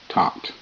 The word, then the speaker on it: taught: nice don't be naughty Tau a taught father GH is silent father taught his daughter